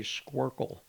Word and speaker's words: squircle: Someone's called it a squircle. Oh. A squircle. Never Like heard that. SQ Square circle.